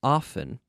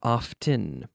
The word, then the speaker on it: often: or often so there's there are two potential ways to pronounce this often and often you can say it either way so if I say